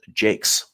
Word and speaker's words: Jakes: room for Joe, and it is apparently pronounced Jakes. That's according to the Mariners PR press release. So, okay, Joe Jakes then.